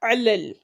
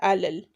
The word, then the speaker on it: على: The first letter there is ayn, so you pronounce it as ayn, علل, and not alal.